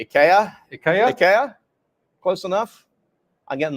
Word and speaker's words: IKEA: about Ikea is that in Scandinavia they don't pronounce it Ikea they pronounce it properly ikaa Ika close enough I'm